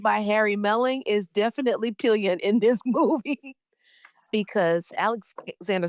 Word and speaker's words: Pillion: Okay, so Jasmine and I, because we did not know how to pronounce the name of this film, it's Pillion, which we thought was Pillion or Pillion, but it is actually Pillion. Pillion, which is a motorcycle or bicycle saddle for a passenger.